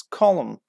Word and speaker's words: column: for this word yes column column finished with n but we don't pronounce yes Helen bar on